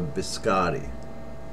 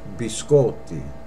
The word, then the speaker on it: biscotti: biscotti yeah I hear a lot of Americans say can I have a biscotti incorrect be sculpted and that means cookies plural be sculpt not biscotti okay be scored the